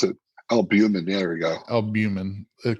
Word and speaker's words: albumin: what is that albumin it's approach I can't pronounce it albumin there we go albumin it cuts down on